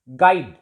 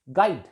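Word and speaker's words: guide: गाइड. GIDE. गाइड. यू is silent here.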